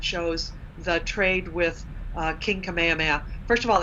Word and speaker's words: Kamehameha: Kamehameha, first of all, it's spelled with a T, Kamehameha, which was common at that time. And the K and the T sound in the Hawaiian language to the English-speaking ear are not easily distinguished.